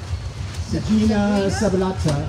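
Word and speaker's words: Sagina subulata: Sagina sabulata. Well, there's a G followed by an I, which would be a soft G.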